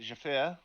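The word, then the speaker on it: Zjafir: uh you could just call me jara um it's spelt and then jeffy is z-j-a-f-i-r screw you to anyone who would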